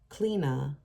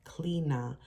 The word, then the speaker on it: Chliodhna: Clina, which is spelled Chliodhna, it's pronounced Clina, was the Celtic goddess